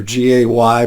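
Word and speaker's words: γῆ: from a Greek word gay we could spell that GE or G or g a y but it's pronounced gay and and it it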